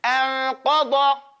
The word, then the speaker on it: أَنْقَضَ: I pronounced it incorrect first. Anqada. Because it's da, this is the tal, you know, like that.